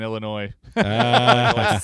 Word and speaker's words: Illinois: ] for saying that the s in Illinois I know yes both are don't pronounce it both YouTube and Facebook